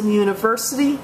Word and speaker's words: university: that vows like you however the vow U often has a consonant sound it sounds like the letter Y when this is the case you use the indefinite article a uh notice a university university it s it has a y sound so we use the